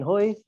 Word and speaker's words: Hui: for having me so my name is hoy and uh laura was pretty close on the pronunciation um and yeah i'm the author of